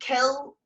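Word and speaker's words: cill: in irish you'll see kill c i l l and you'll see kill c o i l l there's a slight difference in pronunciation kill as in the english word kill and c-o-i-l-l is more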